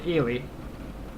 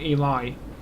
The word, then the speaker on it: Ely: Or Eli, as some people wrongly pronounce it. Because I'm pretty sure it's pronounced Ely, not Eli. Definitely Ely.